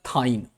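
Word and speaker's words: thine: इफ इन अब यहां पे टी एच आई एन इसका मतलब क्या होता है? थाईन। इसको क्या प्रोनाउंसिएशन करेंगे हम लोग? थाईन।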